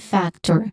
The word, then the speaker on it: factor: Significant, a significant factor. Factor also has a stress syllable in the first one.